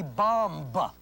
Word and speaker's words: bomb: K-O-M. Not 7539, because you do not say climb. Just as you do not say bomb. You do not pronounce the last B.